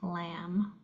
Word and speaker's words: lamb: Last one is an MB. You only hear the M. So that one you hear the first letter, not the second one, as in lamb or comb.